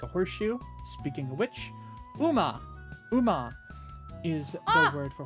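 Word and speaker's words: う: U. Okay, pronounced oo as in cool.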